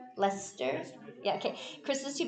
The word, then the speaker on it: Leicester: the leicester game did i say it right lester yeah okay chris was too busy with the lester game and he wasn't quite as responsive as